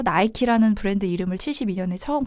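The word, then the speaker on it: Nike: 나이키의 어떤 명칭은 1972년에 그리스 신화의 어떤 승리의 여신인 니케 미국식 발음을 따서 나이티 라는 브랜드 이름을 72년에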